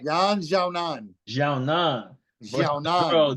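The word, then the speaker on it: 闫晓楠: Look, Jan Xiaonan. Did I say it right? Yan Xiaonan.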